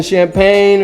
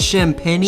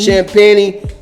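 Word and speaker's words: Champagnie: who I like uh was is it Julian champagne or something like that they pronounced it shamp Penny shamp peny dude was one of the best players in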